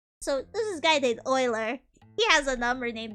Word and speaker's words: Euler: Uh you might know about So there's this guy named Oiler. He has a number named after him. His name is kind of spelled like this way.